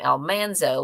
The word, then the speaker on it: Almanzo: kept it um but the actual Almanzo Wilder pronounced his say his name Almanzo which is why she called him manle and why people called him Manny because it was Almanzo so that's why I try to say it correctly all right I also